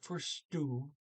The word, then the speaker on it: forstod: Jeg forstod egentlig ikke alt i klassen I dag. Okay, it starts 11:44. So I forstod. It's Forstod, but the D is silent.